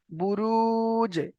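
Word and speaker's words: بروج: এখানে দেখেন জিমের, জিমটা কিসের অক্ষর? জিমটা কলকলার অক্ষর, দেখেন কলকলার অক্ষর, জিমটা হরফে কলকলার অক্ষর। তো এখানে কলকলা করতে হবে প্লাস আগের সঙ্গে মিলিয়ে পড়তে হবে। তাহলে বুরুজ, বুরুজ, এমন ভাবে উচ্চারণ হবে।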